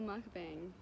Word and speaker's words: mukbang: Florida on vacation and we're gonna do a mukbang that's how you say it the thing is